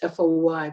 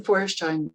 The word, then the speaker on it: Feuerstein: to spell that because people probably think it's Foy but it's f-e-u-e-r-s-t-e-i-n and Professor Reuben forestein really was a completely